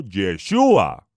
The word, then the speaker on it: Yeshúa: dado por el todopoderoso no por el nombre dado por los griegos los españoles o por aquellos que pronuncian mal la letra j el todopoderoso envió mensajero a la tierra con la instrucción divina de llamarlo yeshua porque porque yo si